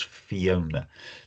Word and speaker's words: Fiona: She has some of the Welsh language, but the way her first name is spelt and pronounced is English. It is Fiona.